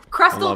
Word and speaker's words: Krestel: __ ] that up but Crystal kind of rhymes with pretzel crystals with pretzel yeah once you tell